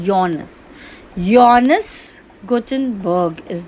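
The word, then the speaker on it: Johannes: अब बेटा इसकी स्पेलिंग आपको दिखेगी जॉनस burger, जॉनस Gutenberg, but ये आप जॉनस नहीं बोलते हैं, इसका जे साइलेंट होता है। We pronounce it एट योनस।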